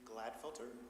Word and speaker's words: Gladfelter: Uh, my name is Gladfelter. My first name is spelled A N D R E W.